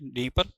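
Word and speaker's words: Dnieper: ठीक है जी, तो यहाँ पर नीपर लिखा हुआ, डी इसमें साइलेंट है, नीपर।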